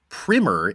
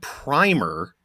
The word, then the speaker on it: primer: discussion about the word primer, as in an introductory text, and how Matt heard it pronounced like it rhymes with slimmer and like climber. He says, in American English, primer is used for introductory